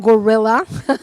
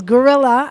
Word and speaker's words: Guerrilla: That's a wonderful question because many people don't pronounce it properly. It's not gorilla health. It's gorilla as in guerrilla warfare because it's like we